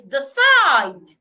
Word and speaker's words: decide: Another one is decide. Decide. Here I am stressing the second syllable.